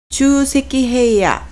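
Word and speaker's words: 沖積平野: 음독은 주입니다. 주세키헤이야, 좀 말이 어렵죠? 충적평야라고 써서 하천 주변에 모래, 자갈 따위가 쌓여 생긴 평야를 나타냅니다. 주세키헤이야라고 읽습니다.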